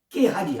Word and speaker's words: 게하시: 바로 게하시인데 히브리어 발음은요 깨하지 아까 뭐였죠?